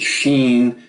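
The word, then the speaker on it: שׁ: On the other hand, if you see the dot on the top left of this letter form, pronounce it as S, as in sun. Consistent with this pronunciation, we will transliterate Sheen using SH and Sin using the letter S.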